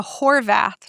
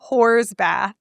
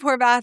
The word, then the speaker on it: Horvath: And Kim Kardashian says, we're going to do the Horvath test after Steve Horvath, who's an epigenetic researcher. And Khloe Kardashian, I think it's Khloe, goes, Horsbath? And she just keeps mishearing Steve Horvath's name as Horsbath.